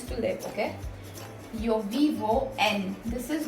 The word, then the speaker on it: en: Yo vivo en. This is not in. This is not in. English वाला in नहीं है. You can't pronounce it like that. You have to pronounce it like en.